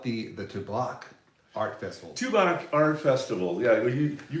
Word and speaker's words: Tubac: the tobac art festival tuac art festival yeah you you got this tobac we tobac I love it it's tuac is that right yeah it's tuac but I like tobac considering the cigar there's actually